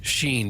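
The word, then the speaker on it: Schenn: How about that, Ra Sheen? Does he pronounce it or she pronounc he the proper way sheen sheen just so it rhymes in the song that we have.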